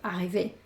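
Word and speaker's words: arrivée: La pronunciación es la misma, porque realmente lo que pronuncio es la E que tiene el acento, arrivé, ¿vale? Esta E no se escucha.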